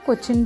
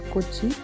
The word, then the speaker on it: Kochi: कोची भी बोलते हैं इसको, कोचिन भी बोलते हैं. कोचिन is the English pronunciation for the word Kochi.